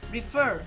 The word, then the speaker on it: refer: Pero refer, debemos duplicar la R porque hacemos un acento, es acentuada. Refer, en listen, es más suave.